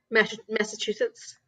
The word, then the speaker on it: Massachusetts: it is massachusetts but i can't say massachusetts massachusetts there you go you said it right that time the first time you said the wrong way though oh well usually